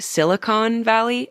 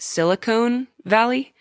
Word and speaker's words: Silicon Valley: true number one did you know it was pronounced Silicon Valley and not Silicone Valley I didn't and then I convinced Chelsea that